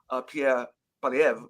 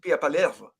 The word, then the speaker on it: Pierre Poilievre: It's pronounced Pierre Poilievre, but in French it's Pierre Poilievre.